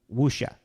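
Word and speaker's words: 武侠: Apparently, like, to get even more of the pronunciation of it, you're not even supposed to really pronounce the w in most Cantonese.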